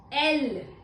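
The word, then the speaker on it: elle: L. How do we pronounce it? L. L. L for leopard.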